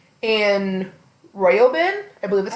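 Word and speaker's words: Roiben: basically follows K and royin I believe that's how you pronounce it royin yeah I was calling him Rin for the longest time but I realized that it's it's r o not r i um I I however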